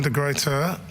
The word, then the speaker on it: de Gruyter: We've got Caroline de Gruyter. That's right. Caroline, please, would you join us? And Matej, back here again. Wherever this. No. Wherever you. Okay. There we go. Some water. So Caroline de Gruyter, do I say it correctly?